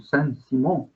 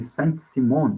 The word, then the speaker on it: Saint-Simon: Um dos mais famosos é o Saint-Simon, né? Conde de Saint-Simon, a gente pronuncia aqui, né? Conde de Saint-Simon, né?